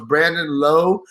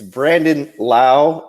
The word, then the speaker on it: Brandon Lowe: me about the pronunciation so it's branded low and then Nate Nate now you said it no it's it's Brandon Lau and Nate low but they don't say